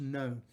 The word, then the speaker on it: Ngo: And you might remember that we talked about the story of Andy No, and it's spelled Ngo, but it's pronounced No.